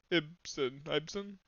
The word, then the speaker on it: Ibsen: Ibsen? Well, Ibsen would be how you pronounce it.